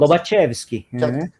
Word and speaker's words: Lobachevsky: É Lobachevsky que se pronuncia? Como que é Lobachevsky? Lobachevsky.